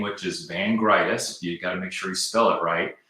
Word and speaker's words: Vangritis: is K and my last name which is vangreitis you got to make sure you spell it right so k v-a-n-g-r-i-t-i-s at bottom line